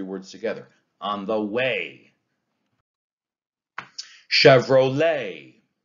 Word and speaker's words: Chevrolet: Chevrolet. Chevrolet is an anapest.